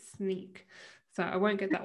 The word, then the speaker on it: Snyk: now it's registered that i have to pronounce it sneak so i won't get